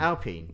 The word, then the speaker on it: Alpine: You just show me pictures of a of a Kim Sherwood sitting on an Aston line or an Alpine even. Alpine. Alpine. Yes. Yes. Yes. It's pronounced alpine.